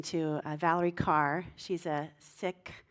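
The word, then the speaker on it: Sikh: Valerie Carr she's a sick I was saying seek but it's really sick they pronounce it and it's the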